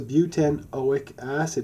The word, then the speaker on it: butanoic acid: oh my gasps it's a beaut n awake acid is how you would pronounce that so this is